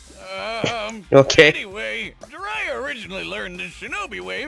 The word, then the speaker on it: Jiraiya: Jiraiya. Okay, that's how you pronounce his name.